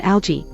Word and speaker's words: algae: surprising that pronunciations vary according to the OED the difference in uk/ US is in the letter A not in the G for the pronunciation of the G in algae in both us and UK /g/ and/ d/ are both given but for this singular alga only /g/ I American English have